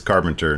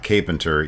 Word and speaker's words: Carpenter: oh by the way he confirmed his name is carpenter not capenter even though it was